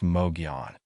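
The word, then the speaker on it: Mogollon: The Mogalon monster, pronounced Moion.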